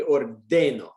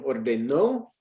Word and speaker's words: ordeno: But the rule is the second to last syllable, right? So it should be ordeno, ordenas, ordena, right? It is very normal that my students, especially initially, you're saying ordeno, ordenas, ordena, right?